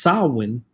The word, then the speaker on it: Samhain: In modern times, Samhain, a Gaelic word pronounced Samhain, is usually celebrated from October 31st to November